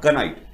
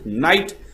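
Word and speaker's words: knight: के एन आई जी एस T this is actually नाइट। इट्स नॉट कनाइट। इट्स नाइट and here is also नाइट।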